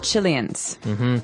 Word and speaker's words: Chilean: And Chile, or Chile, as many Americans say, has people called Chileans. Some people say Chilean. So I don't know.